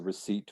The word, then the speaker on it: receipt: receipt after you buy something you'll get the receipt for what you purchased and why is there